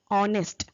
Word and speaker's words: honest: for example the word honest here the letter h is silent so nowadays linguists prefer